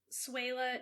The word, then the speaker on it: Swehla: Yes, you can find me on Twitter at Suela, and Suela is spelled SWEHLA.